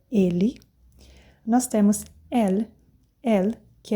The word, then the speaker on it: elle: Porque o francês, ele costuma comer a letra final também, o S, sempre. Tanto é que vocês vão ver aqui na hora que eu falar no plural. E o L, o E final, muitas vezes também, tá? Por isso que é elle.